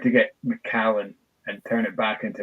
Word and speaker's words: Macallan: Or we can call it what everybody else seems to call Macallan is McCallum's. Oh my gosh. It annoys me almost as much as people who mispronounce Isla. Like, I think that one gives me the anger the most. But oh my gosh, the amount of people that call them McCallums.